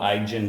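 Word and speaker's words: Ijen: a bluish Hue and that's why it's called igen Blue it's spelled i-j-e-n and of course you know we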